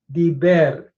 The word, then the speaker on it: diber: Notice the vowel pattern is a hirik, followed by a tsere, a long E vowel, diber.